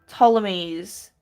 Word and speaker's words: Ptolemy: He is silent. Oh, so it's Ptolemy's. Is that how I say it? I figured it was either the P or T was silent. I figured there had to be a silent letter. You don't really go Pt. Like, that's not really a thing.